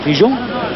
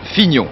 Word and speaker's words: Fignon: qu'est-ce qui a gagné c'est Figon comment Figon Figon non pas figeon Fignon Fignon ça s'écrit F